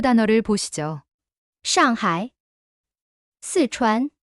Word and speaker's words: 上海: 上海, 四川. 두 단어 다 음소를 갖고 있는데 이들의 중국어 발음이 각각 다르다는 것입니다. 샹하이의 샤 발음이 그 유명한 중국어 특유의 권설음인데 혀를 말아 올리고 하는 어려운 발음이죠.